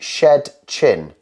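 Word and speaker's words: Szczecin: is now um yeah so an S and A Z is a sh sound well I went because it had two Zeds I was like so on here it would be shed chin so considering you didn't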